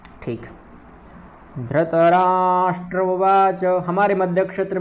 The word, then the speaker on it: उवाच: धृतराष्ट्र उवाच, यह भी उवाच जो है चा का पूर्ण उच्चारण करना है।